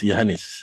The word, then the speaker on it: Yanes: and very good morning my name is yanes the comination of my father's and my mother's name usually people mistakenly pronounce my name I think I'm The